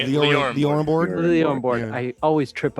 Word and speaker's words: LioranBoard: LioranBoard. LioranBoard. Yeah. I always trip up on that. Billy puts an extra I in there, and I do. I call Liorian.